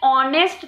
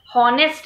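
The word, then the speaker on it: honest: हम जब बोलते हैं ऑनेस्ट तो एच नहीं ओ सुनाई देता है. हॉनेस्ट नहीं बोलते क्योंकि एच इज साइलेंट, तो ऑनेस्ट है इसलिए एन।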